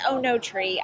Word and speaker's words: Oenotri: like to say it I think it's Ono tree I don't think that there's an extra syllable in there even though I would